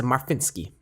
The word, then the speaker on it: Marchwinski: Marchwinski. What does that even mean? It's Polish, bro. You win ski events in The March? Polish way to pronounce it is Marfinski.